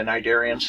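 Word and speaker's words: Cnidarians: tonoffer and sniderians when you see those double weird consonants at the beginning of the word you're probably looking at something greek anyway the nidarians have um those what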